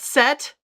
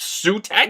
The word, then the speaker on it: Set: Sut is pronounced sutet. No, no, it's set. Okay. Well, it's pronounced set in other languages pretty much anywhere else around the world.